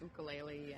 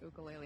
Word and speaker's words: ukulele: he bought himself an ukulele, and he's not put it down since. An ukulele? Yeah, that's how you say it there. And then he gets very like, no, it's ukulele.